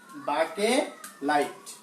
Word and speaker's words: বাকেলাইট: বাকেলাইট উচ্চারণটা একটু অন্যরকম, বাকেলাইট। বাকেলাইট নামগুলি একটু সাথে আমার সাথে মুখস্থ করলে হয়ে যাবে। বাকেলাইট উচ্চারণটা সাথে সাথে পড়তে হবে, বাকেলাইট, ডি না টি।